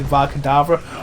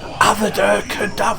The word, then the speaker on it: Avada Kedavra: I love Stephen Fry and I love his audiobooks, but I hate how he pronounces Varkadavra. Like, Avada Kedavra. Like, no, Stephen. No, it's not, is it?